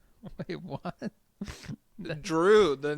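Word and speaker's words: Jrue: Drew, the name. It's spelled J-R-U-E, right?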